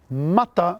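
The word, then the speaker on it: matā: Mata means raw, as in ika mata, raw fish. However, if you put a macron over the second A, it is pronounced as in mata.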